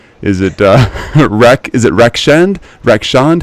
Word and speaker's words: Rakshand: up really bad is it wreck is it Rex and Rec Sean how do you pronounce it rock shunned Ruxin okay great man oh do you have